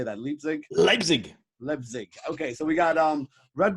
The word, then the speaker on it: Leipzig: Leipzig.